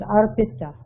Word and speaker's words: arpita: I don't think we pronounce it arpita. It's arpita, I, arpita, not arpita.